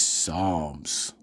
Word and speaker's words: Psalms: The P is silent. Jesus Christ. Jesus H. fucking Christ. She said palms 3 times before he finally stepped in and said, it's Psalms.